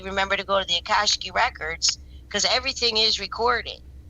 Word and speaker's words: Akashic: You're going to have to try to figure it out there, and maybe remember to go to the Akashic records, because everything is recorded.